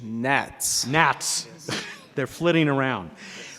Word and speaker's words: NHATS: Actually, the correct pronunciation is NATS.